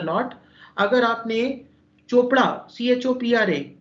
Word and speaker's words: Chopra: been to northern India, you will find that 30 to 40% of the people will pronounce Chopra as Khopra.